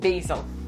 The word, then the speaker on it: basal: It's called basal. In Russian it's bazalna. That's why I mispronounce it in English.